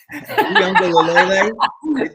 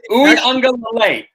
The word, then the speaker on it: Uiagalelei: Uiagalelei. Uiagalelei. It's Lele. Uiagalelei.